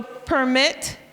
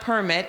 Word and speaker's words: permit: So permit, it's not permit, it's permit.